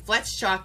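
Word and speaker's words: Fletschock: Amber flet flets chalk Amber flets chalk and flet shock is spelled f l e t s c h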